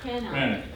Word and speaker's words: Cranach: Cranach.